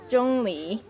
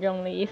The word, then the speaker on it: Zhongli: corrupting my chinese pronunciation his name is uh pronounced john lee but everybody's pr everybody's pronouncing it in jungli so like john lee you know so i'm pronouncing it that way now too oh help sure